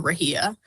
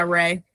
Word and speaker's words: Rhea: It's spelled so weird. I know. But yeah, Ray.